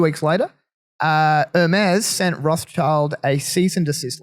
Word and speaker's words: Rothschild: Because is it Rothschild or is it Rothschilds?